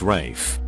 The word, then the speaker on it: Ralph: usually a jaguar culture being called ralph but pronouncing it rafe when asked about their